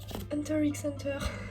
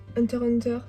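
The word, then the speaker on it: Hunter × Hunter: Bon, après, nous avons Hunter x Hunter, HXH, Hunter Hunter, parce que je sais qu'il y a des gens qui prononcent pas le X, moi je fais partie de la team qui prononce le X, donc me jugez pas.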